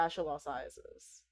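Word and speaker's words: fasciolopsiasis: It's called fasciolobiasis, which No. honestly is worse. Fasciolopsi. Okay, Fasciolociasis. PS is fasciolociasis. the yeah, Oh the my P and PS is silent.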